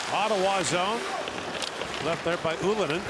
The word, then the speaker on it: Ylönen: Left there by Ylönen, whose dad was known as Ylonen when he played in the NHL, but his son has gone with the traditional Finnish pronunciation.